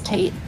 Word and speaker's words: tate: It's pronounced tate, you fuckers. Oh, I'm sorry. You say potato, I say potato. You say tate, I say tate. But it's like rotate, so it's like Tate.